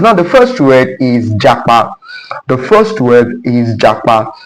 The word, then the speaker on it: japa: Now the pronunciation of this word is japa and it means the